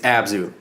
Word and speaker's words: Abzu: Why can't you pronounce it? I don't know. Every time you bring it up. I know. Yep. It's Abzu.